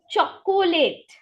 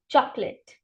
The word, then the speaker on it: chocolate: after me Wednesday next Everyone likes it right cholate it's not cholate emphasis it's simple chocolate what is it chocolate repeat after me chocolate